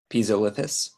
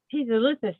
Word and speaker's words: Pisolithus: That Dyer's ball right there that you see, the Pisiphis, I don't know how you say it properly, sorry. Pisolithus. Pisolithus, thank you, Stephen.